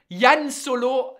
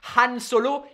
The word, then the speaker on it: Han Solo: Yann Solo. That is still what he's called. That, I mean, that's just hilarious. Because they can't pronounce the H. French people can't do the H. Han Solo, ils arrivent pas.